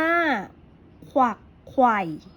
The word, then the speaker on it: ขวักไขว่: ไป ข้อ ที่ สอง ขวักไขว่ อ่าน ว่า ขวักไขว่ ถูก ไหม คะ ถูก นัก เรียน ก็